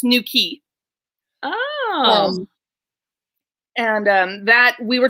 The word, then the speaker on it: Newquay: A place called Newquay, which is spelled Newquay for those of us who are not from England, but it's Newquay.